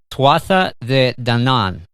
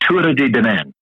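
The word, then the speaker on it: Tuatha Dé Danann: There is a name that comes up in your book, and I apologize if I mispronounce it, but it's the Tuatha de Danann. The Tuatha de Danann.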